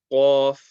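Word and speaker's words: ق: Qaf. Raise the back end of your tongue.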